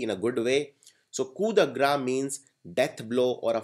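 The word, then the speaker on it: coup de grâce: the property next is K the it is pronounced K gra it is not pronounced C the grace so pronounce it rately rightly in a good way so kudagra means death blow or a final blow for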